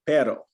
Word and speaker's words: perro: and repeat after me perro very subtle that was perfect the way you are pronouncing that now in the middle we have two r's and that's when we're going to roll it okay give it a